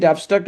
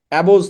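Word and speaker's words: abstract: দিয়ে বলবে এটা কোন ধরনের noun, is ইট অ্যাবস্ট্রাক্ট or concrete? এখন অনেস্টি কি খাওয়া যায়? অনেস্টি ধরা যায়? অনেস্টি স্পর্শ করা যায়? অনেস্টি গন্ধ নেওয়া যায়? যায় না। এটা উচ্চারণ কিন্তু অ্যাবস্ট্রাক্ট, অ্যাবোজ না, অ্যাপস, এবিএস, অ্যাবস ট্রাক্ট, ঠিক আছে?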